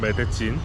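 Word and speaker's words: Medellín: 여기는 메데인입니다. 메데인? 조금 더 콜롬비아 발음으로 하면 메데친.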